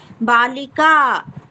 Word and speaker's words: बालिका: नहीं होता है बेटा एकवचन में बालिका बोलो बालिका बालिका हम बालिका उसमें विसर्ग मत लगाया करो उच्चारण में हा मत लाया करो ठीक है बालिका ऐसा मत बोलो ठीक है वो हां